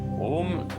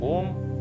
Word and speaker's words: ओम: उतार आराम से हो और शुरुआत आ से हो। ओम ऊ से नहीं होता, आ ऊ ऐसे इसका उच्चारण होता है।